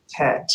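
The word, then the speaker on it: טית: Your clue is it rhymes with, what rhymes with chet? Tet. Tet rhymes with chet.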